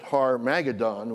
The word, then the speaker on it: Armageddon: He actually pronounced it Har Magadon, which is the Revised Standard Version translation of that scripture.